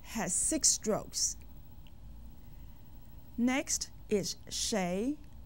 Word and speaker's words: 谁: 谁. There are two ways to say who in Chinese. We have learned and used 谁. Another pronunciation is 谁, which you might hear from time to time.